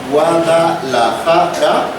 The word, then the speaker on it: Guadalajara: lo crean por ejemplo en la palabra Guadalajara Guadalajara sí la silaba tónica es la penúltima en Guadalajara es una palabra grave pero aunque no lo